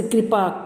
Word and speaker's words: कृपा: उसमें री की मात्रा लगी तो आवाज उच्चारण भी उसका री से होना चाहिए, कृपा।